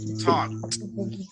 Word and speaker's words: talk: Next, talk, talk. Talk. Vamos a ver, ese verbo no pronunciamos la L.